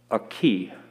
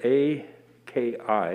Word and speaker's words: aki: is the meaning of a very important word, aki, spelled A-K-I, at least generally how it's spelled, aki, and it means land.